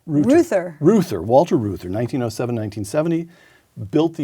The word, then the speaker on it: Reuther: up in a moment Walter root how's that pronounced Luther Luther Walter Reuther 1907 nineteen seventy built the United Automobile Workers